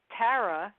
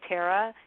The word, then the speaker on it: Tara: but nobody can say Tara unless they're from New York I usually get Tara like tear a piece of paper and a half and